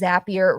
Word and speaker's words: Zapier: And yes, on it it says Zapier rhymes with happier.